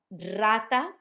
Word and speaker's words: rata: Rata. Rata sounds like a rolled R, a strong one, because it's at the start of the letter, or of the word.